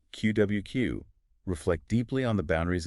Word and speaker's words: QwQ: I got to say the name itself, you know, QWQ pronounced like quill.